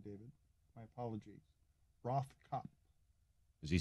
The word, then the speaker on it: Rothkopf: Rothkopf. Is he saying it right, David? Sounds good to me. All right. The F at the end is silent? Yes. Well, not really, but it doesn't matter.